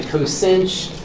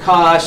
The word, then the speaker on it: cosh: Some people call the hyperbolic cosine cosinch. I'll call it cosh. Some people call it cosh.